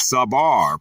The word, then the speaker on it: sabar: The Hebrew word is sabar, pronounced sa-bar.